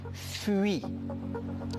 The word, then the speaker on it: fuit: UI se pronuncia, se donne le son I. Par lo tanto, je dis Suisse. Je dis nuit et je dis fuit.